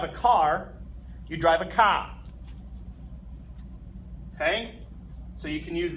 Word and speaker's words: K: The letter J is pronounced Yot. The letter K. Ka.